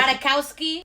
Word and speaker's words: Ratajkowski: Can I get a pronunciation? Ratajkowski.